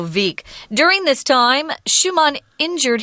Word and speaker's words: Wieck: It looks like it's weak, but the Germans pronounce that W a V, so Wieck.